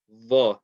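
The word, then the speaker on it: ظ: I would rather write it as DH because it's more of a DH than a Z.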